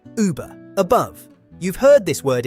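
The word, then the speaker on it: Über: Say E, then round your lips. Uber, above.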